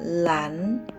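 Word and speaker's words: 蓝: Nah, ini dibacanya lan.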